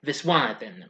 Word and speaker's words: Viswanathan: That's how you pronounce it. No, wait a minute. Or is it? No, Wanathan. Yeah, Viswanathan.